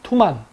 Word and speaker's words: 투만: 원 발음은 투만입니다. 투만.